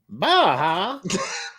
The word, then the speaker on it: Baja: Which James Bond film ended with Bond's destruction of Blofeld's oil rig off the coast of, and I believe it's pronounced Baja? Baja. Verified.